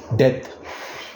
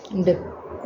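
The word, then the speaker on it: debt: ऐड हो गया टू डेथ बी को प्रोनाउंस नहीं करते बोलो डेप्थ डेप्थ नहीं बोलते डेथ डेप्थ हां डेप्थ मतलब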